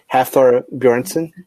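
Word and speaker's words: Hafþór Björnsson: Hafthor Bjornsson.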